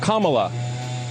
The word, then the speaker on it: Kamala: name her name is pronounced comma like the punctuation mark luck kamala okay seriously i've heard